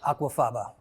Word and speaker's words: aquafaba: Aquafaba. Aquafaba.